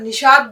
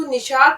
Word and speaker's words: نشاط: اب عام بول چال میں مطلب نشاط بولتے ہیں, لیکن اگر اس کا صحیح تلفظ دیکھا جائے تو نون پہ جو ہے وہ زبر ہے, ہم اس کو نشاط نہیں بلکہ نشاط کہیں گے.